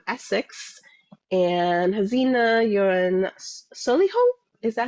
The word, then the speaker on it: Solihull: Nuzhat is in Essex, and Hazina, you're in Solihull? Is that how you say it? Yes, Solihull?